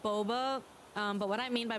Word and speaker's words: boba: dirty who's booba what boba is not booba oh then again now that i think about it some people do pronounce boba and bubba wrong i remember some of